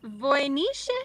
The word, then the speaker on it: Voynich: and then Voynich. Voynich. Voynich. Voynich. Okay, so pretty much how it's spelled.